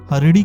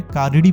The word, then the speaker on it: हरिणी: पाठ के प्रथम मंत्र हरिणी शब्द को हरिणी के बजाय कारिणी पढ़ा इसमें ह की जगह क का उच्चारण करने से मंत्र का अर्थ बदल गया इससे मां चंडी का